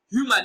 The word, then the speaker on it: human: Human is stressed on its first syllable as human.